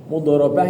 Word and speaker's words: mudharabah: Mudharabah itu bacanya begitu ya, mudharabah, dari kata dorobah.